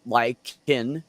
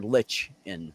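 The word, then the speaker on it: lichen: yeah l i c hen is can be pronounced L y- Keen or l i t C- en so likein or Lich in so you're both right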